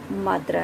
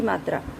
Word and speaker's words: मातृ: शुद्ध शब्द ये होते हैं मातृ, लेकिन इनका उच्चारण किस प्रकार से कर देते हैं? मात्र, जो कि गलत है।